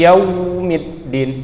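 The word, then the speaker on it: يوم الدين: Misalnya kita baca tekan itu Maliki Yaumiddin, tidak usah sampai seperti itu. Dia lembutin saja lalu lewat. Yaumi ya. Middin. Nah, midnya ini baru ditekan karena dalnya memiliki sifat syiddah.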